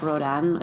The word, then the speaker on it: Rodin: So he leaves and he asks Rodin, who Auguste Rodin, spelled R-O-D-I-N, but it's pronounced Rodin, steps in.